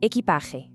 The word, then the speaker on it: equipaje: Equipaje, meaning luggage. The pronunciation here requires a really nice, breathy H sound for the letter J, equipaje.